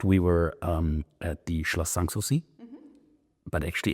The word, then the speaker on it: Sanssouci: And as a matter of fact, we were at the Schloss Sanssouci, but actually how my wife said it, she was a Sanssouci. If they're pronouncing it wrong, Sanssouci.